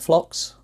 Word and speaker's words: phlox: flowers of the flocks is that how you say it phlox yes you and your wife